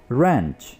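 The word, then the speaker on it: wrench: जोरदार झटके को हम इंग्लिश में बोलेंगे रेंच, रेंच। इसमें डब्ल्यू प्रोनाउंस नहीं होगा।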